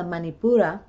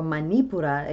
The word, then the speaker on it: Manipura: plexus which is the manipura okay or manipura you know depending on uh your preference of uh pronunciation okay an unbalanced